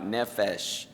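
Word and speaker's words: נֶפֶשׁ: hebrew this word is i'm not a expert on hebrew pronunciation but i believe is something like nephesh that's at least that's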